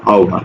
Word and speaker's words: আহ্বান: আমরা একটু আগে দেখলাম আহ্বান উচ্চারণটা এরকম আও ভয় আকার দন্তন্য ভান আও ভান এরকম উচ্চারণ ওকে এবার আসো 31 নম্বর